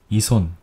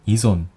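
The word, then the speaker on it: 依存: 어디에 의존하다 라는 뜻의 의존이라는 단어를 이손 또는 이존 이 둘 중에 어떻게 읽을 것이냐 하는 문제입니다.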